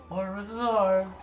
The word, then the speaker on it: au revoir: It's au revoir. You don't pronounce the R at the end.